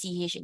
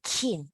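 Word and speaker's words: qin: CH how you pronounce CH in English CH in English so q i n you imagine this Q you convert to CH so become shin chin okay it's not kin okay not kin it's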